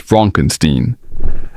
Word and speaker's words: Frankenstein: Frederick Frankenstein. It's pronounced Frankenstein, a descendant of the infamous Victor.